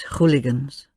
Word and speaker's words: hooligan: Ach, these hooligans. Pronounced hooligan, a loan word very common in Russian, used for scoundrels, louts, ruffians.